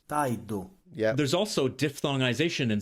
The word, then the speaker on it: tardo: In the Palermo dialect, when r is followed by a consonant, it's pronounced like e. The word for door porta, is pronounced poita, Or puaita. You can even add a U here, but yeah, correct. the word for late tardo, becomes. taido, Yeah.